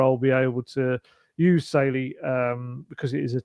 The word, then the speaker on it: Saily: All of those are occasions where I'll be able to use SY.